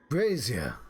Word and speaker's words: brazier: goes with everything hmm brazier abrasure I can interact with this for whatever reason okay it's pronounced Brazier like Frasier but I've been pronouncing